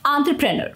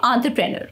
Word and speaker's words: entrepreneur: like fur and purse entrepreneur okay entrepreneur so when you put it all together it sounds like entrepreneur remember to stress the on syllable and the rest of the syllable should flow smoothly practice saying it a